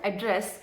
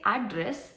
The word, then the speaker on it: address: For example, the word address can have two different meanings just based on how it is pronounced. If I say address, it means a physical